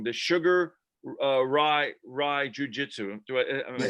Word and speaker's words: Sugar Ryu: I don't want to say it wrong, the Sugar Ryu Jiu-Jitsu.